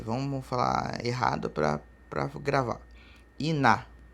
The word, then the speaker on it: iná: Iná escreve-se I-N-A e acento. Então, Iná. Iná está escrito. Iná significa fogo. Então, separando ali, ó. Iná. Termina em vogal? Sim. Tem um N antes? Sim. Então, é uma vogal nasal terminada em A.